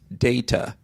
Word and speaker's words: data: We pronounce data as data, D-A-Y.